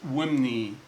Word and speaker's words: wmny: Number one, west, which is pronounced imnet, or right hand, which is pronounced wimni.